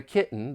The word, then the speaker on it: kitten: and there of course there are many gladle stops when saying this I have written a story about a kitten that walked up a